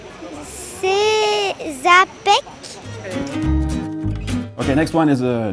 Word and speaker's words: Czapek: Czapek. Czapek. C'est Czapek.